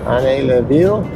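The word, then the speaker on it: Ainay-le-Vieil: Yeah, Ainay Le Vieil. That's how you pronounce it.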